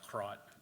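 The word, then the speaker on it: КРОТ: KPOT, actually pronounced krot in Russian, means mole.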